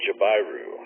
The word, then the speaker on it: jabiru: Wikipedia Camp quiet so according to them it's a jabiru that's how you say that that's what I'm